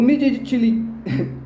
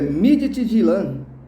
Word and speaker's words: Midtjylland: O Midtjylland Desculpa, é Midtjylland. Desculpa se eu não pronunciei corretamente.